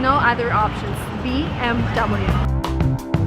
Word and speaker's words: BMW: pronouncing wrong is bmw this is a german car and in germany you would say bmv but if you're in america and you want to sound american it's bmw and no other options bmw i have a